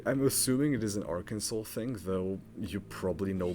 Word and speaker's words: Arkansas: By the way, you probably know this, but you're not allowed to mispronounce Arkansas. You have to pray Arkansas. Me and my parents at first was it's or Kansas. No, it's Arkansas.